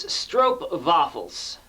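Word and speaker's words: stroopwafels: room temperature okay so i guess the real pronunciation of this uh treat here is strop waffles stroke waffles and i put the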